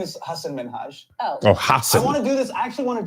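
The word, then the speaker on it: Hasan Minhaj: my parents are here it's Hass minhaj and people always mispronounce it they're always like Hass minja hsein I'm so sorry I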